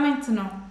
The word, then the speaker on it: maintenant: Main, como uma mão, main, main, main, main, main, main, main, é nasalado, tá?